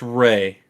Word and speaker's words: Ralph: He spells it Ralph, but it's pronounced Ray.